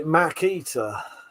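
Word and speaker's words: Makita: With that said, I say Mackita and the Walts like a normal person.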